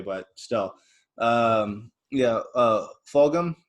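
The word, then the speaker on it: Fulgham: still um yeah uh fulgum i think is how you say his name oh yeah folgom that's right that rookie so yeah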